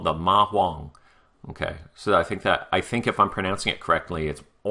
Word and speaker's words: ma huang: history, it's called the ma huang. Okay, so I think if I'm pronouncing it correctly, it's huang, like it's almost an O, not a h sound, but a huang.